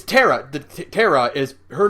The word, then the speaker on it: Tara: it's uh no it's it's Tara the terara is her name is spelled t a r a in Japan like